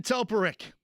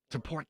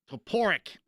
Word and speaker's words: Toporek: Toporek. No. Toporek. Gosh darn it. Toporek.